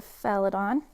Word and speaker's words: Fealdan: You can use it for anything you want, but we have used it specifically for the Felidon. And that is spelled Fealdan.